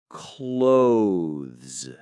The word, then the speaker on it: clothes: Clothes. Clothes. That th sound and then the z at the end. It's a tricky combination for some.